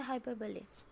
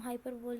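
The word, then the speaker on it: hyperbole: क्या आता हाइपरबली और इसको हम हाइपर बोल नहीं पढ़ते या इसे हाइपरबली पढ़ते हैं।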